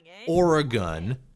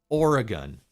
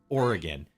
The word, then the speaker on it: Oregon: Just like I'm not going to call it Oregon, like so many freaks everywhere else in the country say. I'm going to call it Oregon.